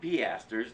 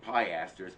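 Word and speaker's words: piaster: receipt for the turkish piesters it's pronounced peasters not pie asters and those coins must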